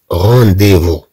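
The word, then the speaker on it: rendez-vous: أو مثلا كلمة رونديفو رونديفو رونديفو موعد موعد، عندي موعد عند الطبيب مثلا، جي ان رونديفو شي ان ميدسان، إذن هاد او زد تنطق أي.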